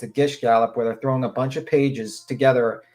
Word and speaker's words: Gish gallop: Gish gala? Gish gallop. Spell it.